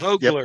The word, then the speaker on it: Vogler: We discussed the correct pronunciation of Vogler. So Yep, Vogler. we did. Vogler. Vogler. vulgar, yeah.